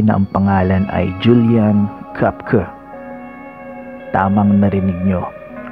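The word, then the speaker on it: Koepcke: may isang babae na ang pangalan ay Julian cker tamang narinig niyo k yan ang tamang pagpronounce si Julian ay lumaki sa lima Peru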